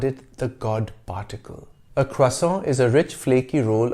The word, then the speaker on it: croissant: sometimes pronounce croissant as croissant the french pronunciation is croissant in the 1830s an